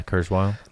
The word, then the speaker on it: Kurzweil: That is it pronounced Kurzweil? Kurzweil? Yeah, Kurzweil.